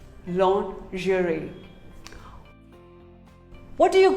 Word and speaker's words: lingerie: commonly mispronounced word lingerie well most of us call it lingerie no it is not lingerie it is actually called lingerie say lingerie long jury what do you call